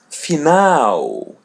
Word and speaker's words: final: L in English but when it comes in the end we pronounce it as W. For example, the word final.